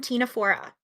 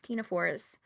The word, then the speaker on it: Ctenophora: Phylum Ctenophora. Also spelled with a C, C T this time. Ctenophores.